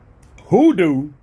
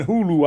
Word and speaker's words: Hoodoo: "Oh, Hulu, I'm I'm going to need you to pronounce that goddamn D because I'm hearing Hulu out your mouth."